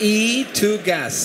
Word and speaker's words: ETOGAS: all in your name actually it's e to gas so it's correctly pronounced isn't it because it's electricity goes to gas well that's that's a